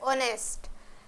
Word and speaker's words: honest: Number D, N honest, not honest, এর উচ্চারণ হবে honest, N honest.